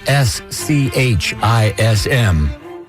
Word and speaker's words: schism: So, a uh double shot of vintage IDs, then into a song which is spelled S C H I S M and which is pronounced schism.